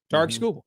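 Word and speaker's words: Tarik Skubal: His name is Tar. Okay, that's how he said TK. Tariq TK for quite a few years. And he's like, well, now that I'm a big deal, I guess I should tell you how to say my name. Tar. Tar school.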